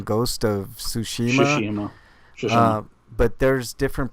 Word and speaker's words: Tsushima: I've heard different ways of pronouncing Ghost of Tsushima.